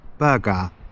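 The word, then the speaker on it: Bergara: Berga.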